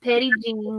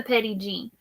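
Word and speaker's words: Petit Jean: And then Regina says you have Petite Jean, which is pronounced Petty Jean meats, and you will throw rocks at any other brand. Okay, so it is the Petty Jean.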